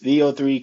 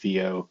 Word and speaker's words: Veo: things you can create with VO or Veo I'm not sure exactly the correct pronunciation but no I think everybody was saying VO VO listen VO3 it